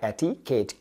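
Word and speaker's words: etiquette: गाइ ई टी आई एटीकेट अब जैसे मैंने क्यू कहा क्यू के बाद जो यू है ये साइलेंट है तो एटीकेट यू साइलेंट हो गया क्या बना एटीकेट और जब एटिकेट आपके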